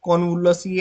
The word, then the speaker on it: Convolvulaceae: and this one is Convolvulaceae. A little bit difficult to pronounce. So, whenever the big word comes, you just break it down. Okay? Con volvul aceae. So, break it down like Convolvulaceae.